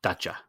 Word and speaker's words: Dacia: just to go back uh daia is actually pronounced data data datcha and they are their first cars when they